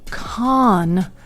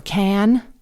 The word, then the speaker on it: Cannes: that I went to Khan as I think the French pronounce it, or Can Can, there were a lot of Americans there.